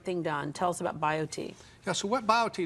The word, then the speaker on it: BioTE: happier log on to bio T medical calm and bio T is spelled bi OTE so bio t medical